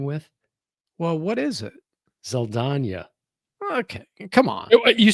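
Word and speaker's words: Zoe Saldaña: she was replaced by Zoe Zalata.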